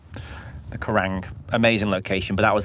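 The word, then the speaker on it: Quiraing: Um a place called the Kurang which is spelled with a Q. The Karang amazing location but that was like another seven hours to get there.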